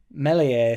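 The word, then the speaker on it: Meslier: cumbersome don't it because you know melier you know there's a silent s in there a't there stri stro St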